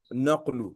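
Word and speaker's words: نقل: So the pronunciation is not nakhlu, it is not kha, rather it is qaf. Naqlu bil qaf, nun qaf and lam.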